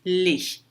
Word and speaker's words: les: Les, se vier sozinho na frente de uma consoante, falaríamos les. O S não se pronunciaria. Mas aqui depois vem uma vogal, aplicamos a liaison, les îles, as ilhas.